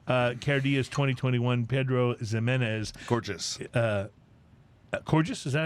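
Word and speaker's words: Cairdeas: it up on said it's somewhere between saying car chase and gorgeous purchase gorgeous i love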